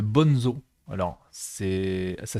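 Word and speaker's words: Bonnezeaux: de paille vous avez le bon zoo alors c'est ça s'écrit B O n e Z a u le bon zoo et ça c'est un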